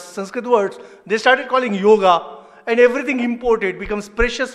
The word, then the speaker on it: yoga: pronunciation like you know people say yoga there is no word called yoga it is yog yog yog people just don't know